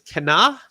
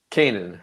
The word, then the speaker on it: Kanan: Um, is Kenna, that's how you say it. You You're the Star Wars guy. Kanan. Just Kanan.